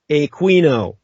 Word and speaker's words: Aquino: name by pronouncing it Aquino in the European fashion. Everyone in Europe and the Philippines pronounces the Latin name Aquino like the great philosopher St. Thomas Aquinas.